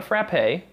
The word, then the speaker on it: frappe: a milkshake is called a fra not a frappe it looks like frappe but it's pronounced Frapp so if you are in Massachusetts